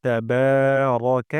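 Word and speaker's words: تبارك: ওয়া তাবারাকা ইসমুকা, বাতে আমরা এক আলিফ টেনে পড়ব। তারপর এখানে এখানে বলতে হবে, রা বলব না।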